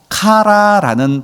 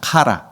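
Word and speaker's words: χαρά: 오늘 이 희락으로 번역된 헬라어라는 것은 바로 카라라는 발음으로 되어집니다. 카라.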